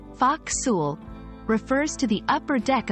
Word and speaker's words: forecastle: this is for you the term ful pronounced Fox refers to the upper